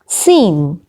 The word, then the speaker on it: scene: g is not pronounced number seven seen seen now in the word scene c is not pronounced number eight eight eight